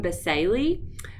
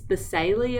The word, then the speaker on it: basale: funky names and um I looked up the pronunciation for this this is stratum basali um I've called it basale and basal but it's basali apparently and it is the